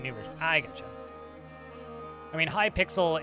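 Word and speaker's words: Hypixel: I gotcha I mean High pixel is a although it's spelled h y pixel is a Siri is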